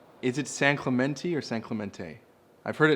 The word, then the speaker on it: San Clemente: yeah I just wanted to know how the locals say no it's San Clemente yeah okay cool so talk to me about